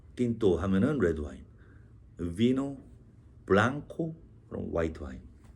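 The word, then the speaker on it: blanc: 그다음에 화이트 와인은 뱅 블랑. 마지막에 C 발음은 안 합니다.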